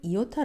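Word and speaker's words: ἰῶτα: 일정이 무엇인지 잠깐 살펴보자면 1 정이라는 것은 이오타 라고 헬라어 로 발음하는 건데요 이 글자들 밑에 보면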